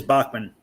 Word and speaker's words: Bachmann: It's just how it's spelled. Yeah. I got no idea what Larry's talking about. Kenny, that is Bachmann. Yes, that is Bachmann.